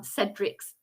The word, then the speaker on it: Cedric's: focus you're correcting me is um cedric's it's the s soft c sound prince cedric's dance party